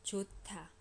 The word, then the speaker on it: 좋다: So 좋다, 좋다, 좋다. Do you hear what's happening phonetically? This H moves over here and it becomes aspirated.